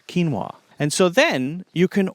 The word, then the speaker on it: quinoa: Let's say it's quinoa. Looks crazy, but it's pronounced fairly simply. And so you see keen, K-E-E-N, wa, W-A. And then you also hear it played in your ear, quinoa.